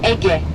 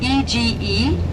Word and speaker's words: Ege: This is Ege, what we call EGE in Turkish, EGE, Ege. That's how we pronounce, because G is Ge for us, Ege, and Aegean Sea, this one, okay?